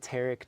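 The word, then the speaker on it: Tariq: Because I saw you're in a video with Sweetie and Tarek, is I think how you say it, Tarek.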